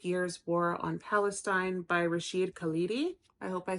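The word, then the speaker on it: Rashid Khalidi: people's names right matters his name is pronounced Rasheed halidi um and this is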